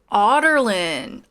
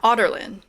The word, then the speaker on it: Ardalan: Ardalan? Ardalan? I don't think I've come across that name yet. Oh, Otterlin. Is that how you say it? Or is that how you... I'm only listening to the audiobook. So... Otterlin. Yeah, Otterlin. Oh, interesting. Okay, so Otterlin is never how I would have said it looking at Ardalan.